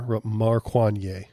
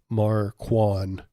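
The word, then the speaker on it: Markwayne: Maruan. That's how you pronounce it. Maruan.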